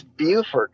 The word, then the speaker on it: Beaufort: So it's Beaufort in South Carolina. Yep. In North Carolina, it's spelled the same, and they call it Beaufort.